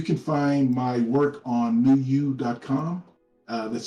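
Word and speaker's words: PneuYou: uh that's spelled p-n-e-u-y-o-u i know that name sounds a little weird but the word new um i took from the greek translation of the word numa which means spirit so i teach a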